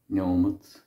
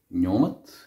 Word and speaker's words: nóiméad: Tá sé há nóiméad tréis a dó. So here I'm using the word nóiméad for minute. This is Munster pronunciation. Elsewhere you would have nóiméad.